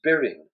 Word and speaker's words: Byron: ridiculously even as byron byron would have been pronounced beering or birin or beering even doyle there are several